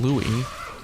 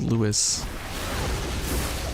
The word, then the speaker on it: Lewis: The English version of the game, they call him Louis, but it's spelled Lewis.